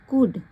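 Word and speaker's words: could: people life so ही कुड यहां पर L silent होता है तो उसको कुड पढ़ा जाता है वी थैंकफूल फॉर हिज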